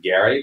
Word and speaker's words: Gerry: The word gerrymander comes from this famous political cartoon about a map drawn by Elbridge Gerry, whose name I am told was actually pronounced Gary, but that ship has sailed.